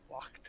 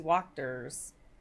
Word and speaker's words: Wachter: Oh, Oh, Wachter. Like W-C-H-T-E-R. Wachter. Okay. Wachter or something. It's most likely pronounced with the K based on the rest of the stuff.